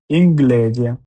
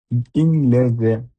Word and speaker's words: inglese: এ আনা গন্না, guanti, G-U-A, gua, N-T-I, guanti, inglese, I-N-I, G-L-L, S-S, inglese, gru, G-R-U, gru, attention.